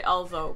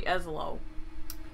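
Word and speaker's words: Ezlo: Every time I say his name, I say Elzo, but it's really Eslo.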